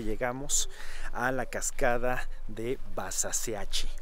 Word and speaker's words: Basaseachi: a la cascada de basaseachi o como los chihuahuenses dicen basaseachi porque pues ellos pronuncian la h como como si eso es lo